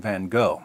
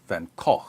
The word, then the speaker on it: van Gogh: sanity of Dutch painter Vincent van Gogh, or Van Gogh, or Van Gogh, or Van Gogh, depending on where you're from and how far you want to deviate from the authentic American pronunciation.